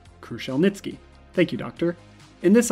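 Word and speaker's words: Kruszelnicki: oh wait he actually told us how to pronounce it nice kruschel nitzki kruschel nitzki thank you doctor in this article crucial nitsuki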